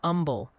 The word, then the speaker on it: Humble: They say Bernie is Bernie, Lockahhatchee is Waxahhatchee, New Bronvilles is New Bronvilles, Bernett is Bernett, Lano is Lano, Humble is Umble, Beexer County is Bear, Grun is Green, Amarillo is Amarillo, but is but Marathon is Marathon.